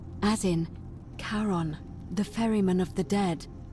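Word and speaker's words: Charon: it's just as you described it only your pronunciation is a little off the name you heard wasn't car it was c h a r o n as in karon the Fairman of the Dead karon who in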